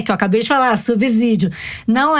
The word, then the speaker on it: subsídio: 69 em outros episódios vocês pronunciam equivocadamente a palavra subsídio com o segundo é se como o segundo é se não está entre os vogais o som não é dizer que eu